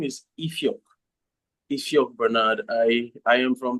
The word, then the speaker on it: Ifioque: know more about your location and also your pronunciation of your name. Okay, thank you very much Sonia. My name is Eio Bernard.